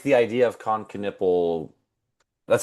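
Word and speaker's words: Knueppel: Um but I like the idea of Coniple.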